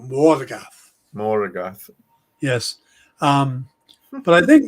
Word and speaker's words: Morgoth: Have to pronounce the O. Morgoth.